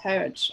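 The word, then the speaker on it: Harwich: dover court bay near harbridge pronounced heritage okay the w sign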